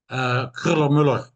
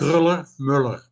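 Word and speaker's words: Kröller-Müller: How do you pronounce that museum? Kruller-Müller. Yes. Kruller-Müller. Kruller-Müller, because Dad and the soldiers had helped remove paintings, but they couldn't find a use for it.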